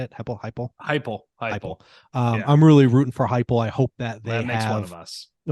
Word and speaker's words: Heupel: And unfortunately, like I'm rooting for Hempel, is how you say it? Heupel.